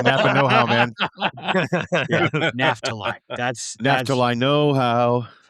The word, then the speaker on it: Naphtali: It is pronounced Naphtali. Ollie. Not Naphtali. It is Naphtali.